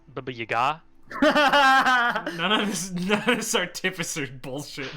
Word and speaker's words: Baba Yaga: Pronounced Baba Yaga.